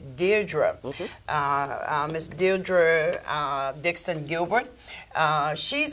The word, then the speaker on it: Deirdre: And then to my left we have our special guest, which is, and I want to pronounce that right, it is Deirdre. It's Deirdre.